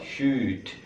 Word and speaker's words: should: Verb duanya shall, should. Verb duanya may, might. Right. Cara bacanya ini might. Cara bacanya ini should tanpa L ya, should.